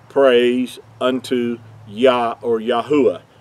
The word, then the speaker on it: Yahuah: praise unto yah or yahuwah yahuwah being his whole name pronounced out with the four letters instead of the two so i wanted to